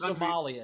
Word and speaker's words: Somalia: Rachel, it's pronounced smaller. Smaller, Steve. Also, it's a great way to encourage Somalia. It's Somalia.